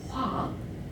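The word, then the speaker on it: 花: because I'm Korean, not Chinese, this is, we pronounce Hua in Chinese mean flower.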